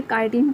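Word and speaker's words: chitin: ये स्पेलिंग जो दिया है इसका प्रोनाउंसिएशन होता है काइटिन।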